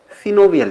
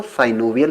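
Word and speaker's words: synovial: कुछ लोग सिनोवियल joint को साइनोवियल जॉइंट भी पढ़ते हैं। वैसे जो करेक्ट प्रोनाउंसिएशन है दोस्तों वो सिनोवियल ही है, लेकिन अगर आप साइनोवियल पढ़ लेते हैं तो इसमें आपको कोई प्रॉब्लम नहीं होने वाली है। दोनों ही एक्सेप्टेबल हैं, सिर्फ आपको समझ में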